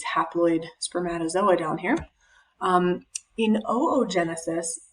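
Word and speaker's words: oogenesis: spermatozoa down here um oo Genesis and that is actually how you pronounce it it's weird you say both O's oo Genesis this is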